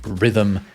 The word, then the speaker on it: rhythm: What is the purpose of the silent H in words like rhythm and where?